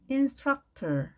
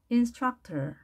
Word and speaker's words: instructor: 하는 사람 뭐라고 말할까요 instructor u의 강세가 있습니다 instructor 특정 기술 운동을 가르치는